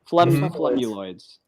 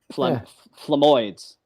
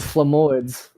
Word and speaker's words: Flemoids: Flemuloids. Yeah. Well, you threw an extra couple of syllables in there, but sure. Flemoids. The Flemoids.